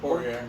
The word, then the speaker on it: Poirier: We got Poirier. Is that how you say it? Poirier, yeah.